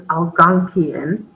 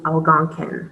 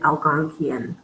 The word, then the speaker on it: Algonquian: The way I've heard it pronounced most often is Algonquian. Sometimes I'll hear it pronounced as Algonquin, and they just miss a syllable there.